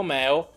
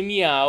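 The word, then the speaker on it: Mew: sparati per esempio meo famosissimo meo che dovrebbe pronunciarsi mia oh in questo video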